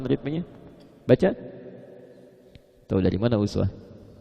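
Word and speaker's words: أسوة: Tahu dari mana uswah? Kalau Anda main ke sebagian negara di Timur Tengah, mereka bacanya iswah.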